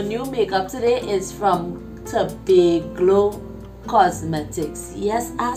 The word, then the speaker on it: Tobaglo: makeup today is from to be glow cosmetics yes i said it right not to be go cosmetics to be glow cosmetics get it right i'm so excited because